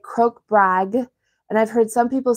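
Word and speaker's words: krokbragd: did but I think technically it's croak brag and there's the G and D in there so how am I gonna pronounce it as an English speaker I don't know but I think it's fun to put the G and D together so I'm going to try Crook bragged and go with that so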